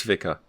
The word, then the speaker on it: vicar: talk about vicar amelia is it pronounced by car or via car it's vicar why is there an i